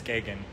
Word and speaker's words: Gagan: Her last name is pronounced Gagan. I did totally butcher it. She corrected me. It's Gagan.